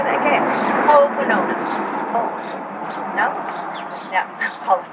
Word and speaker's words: Ho'oponopono: If you want the traditional pronunciation, it's actually Ho'oponopono.